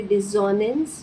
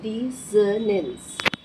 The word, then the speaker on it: dissonance: अब डिसोनेंस हमें पता है कि इसका सही प्रोनाउंसिएशन है, वी विल नॉट से डिसोनेंस, we will say डिसोनेंस। इसमें जेड का भी साउंड नहीं है और जॉ नहीं आएगा। डिसोनेंस।